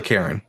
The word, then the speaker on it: caron: So wait, did you call that a Karen? Yeah, it's called a caron. C-A-R-O-N. C-A-R-O-N, Karen.